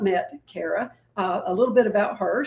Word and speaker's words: Kaira: You say the air like Kaira, and then it's like air, and then, like rhymes with Gouda.